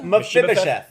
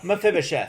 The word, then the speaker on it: Mephibosheth: Mephibosheth. Methuselah. Mephibosheth. All right, If so you feel Mephibosheth- like you're saying it wrong, you're saying it right.